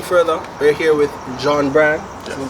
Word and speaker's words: Jhaun Bryan: Saying further, we're here with Jhaun Bryan. Did I pronounce it right?